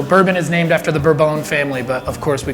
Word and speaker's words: Bourbon: places and French people, but they're all horribly mispronounced. So bourbon is named after the Burbone family, but of course we call it bourbon.